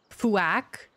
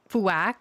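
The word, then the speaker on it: Fuack: a c k how how exactly is that meant to be pronounced fuak fuak okay oh I need to get back to base oh quack oh like quack okay I I I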